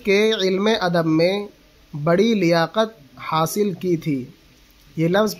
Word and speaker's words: لیاقت: اعراب کیا آئے گا، تو اس کو لیاقت پڑھ دیا جاتا ہے، لیکن اصل تلفظ ہے اس کا لیاقت، لام کے زیر کے ساتھ۔ اور اس زبان کی